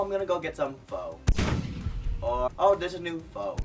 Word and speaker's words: pho: someone says oh I'm gonna go get some pho oh there's a new pho restaurant down the street because it's not pho I didn't faux fur as in the word